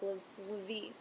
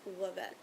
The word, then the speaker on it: Levet: projects for Levet, because I've said Levit, or Lavit, far too many times, and I know that the formal pronunciation is Levet.